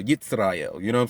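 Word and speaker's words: ישראל: Yitzrael. You know what I'm saying? You know, say the Jewish pronunciation of Israel. Yitzrael.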